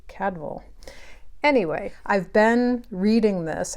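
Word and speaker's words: Cadfael: fabulous brother cadval Chronicles I know we say CAD file but did you know that the actual pronunciation was supposed to be cadval anyway I've been reading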